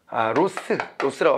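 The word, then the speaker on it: Ross: 콥과 위드 엘더 이렇게 연구가 됐다가 나중에는 위드 로스라고 합시다. 로즈가 우리 따로 또 그렇게 읽는 학자가 있었잖아요. 로즈라고 읽는 학자가 뉴 거버넌스 얘기할 때 있었으니까 여기는 로스 이렇게 읽어야 돼요.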